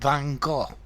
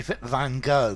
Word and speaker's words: Van Gogh: Or if I gave a description of the sunflowers by Vincent van Gogh. Notice the Americans say Van Gogh, but I would say Van Gogh.